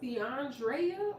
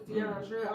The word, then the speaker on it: DeAndrea: And wait a minute, I'm wondering, is your name pronounced DeAndrea or Deandra? I thought it was Deandra. I just noticed this actually an EA. Deandrea, that's different.